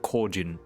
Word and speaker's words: Kojin: all that stuff uh use the native like pronunciation or the the proper like japanese style pronunciation for like kojin instead of kojin you know they're like kojin like proper japanese or